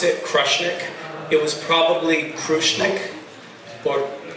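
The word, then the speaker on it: Krushnic: So we pronounce it Krushnik.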